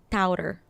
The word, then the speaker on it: Taotter: Taotter. Taotter. Yes, it comes from the Chinese word Tao, which means path.